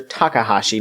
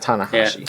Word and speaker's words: Takahashi: It's Master Takahashi, not Tanahashi.